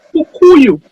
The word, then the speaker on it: Kpukuyou: The K is silent, so it's Kpukuyou.